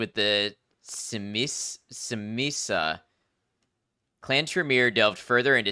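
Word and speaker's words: Tzimisce: It's actually pronounced Simisa.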